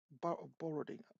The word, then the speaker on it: Boroden: Borodin, I think that's how you pronounce it. It's Boroden.